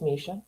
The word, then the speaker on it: Misha: So you are the AI workbook builder by Misha, pronounced Misha.